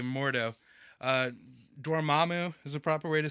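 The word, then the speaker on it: Dormammu: was it's Carl with a K MTO uh doramu is the proper way to say that and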